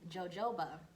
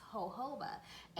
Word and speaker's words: jojoba: her so in the video he kept saying jojoba and I thought it was cute because you